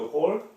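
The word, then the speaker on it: Hall: 이것도 읽으실 때 헬, 뭐 헐 이런 하시면 안 돼요. 이걸 갖다 또 헐이라고 읽으면 진짜 헐, 진짜 놀래요. 이거 우리 이거 뭐라고 읽어요? 쇼핑몰 그러죠? 같은 맥락으로 읽으시면 돼요. 에드워드 홀.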